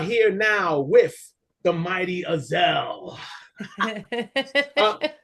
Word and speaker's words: Azell: You got Azell right, and that's all that matters.